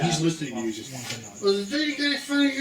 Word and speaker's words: Wampanoag: wants to have the village go against the Wampagons or whatever. I don't remember. I can't exactly say it correctly. I think you're And he Wampanoag.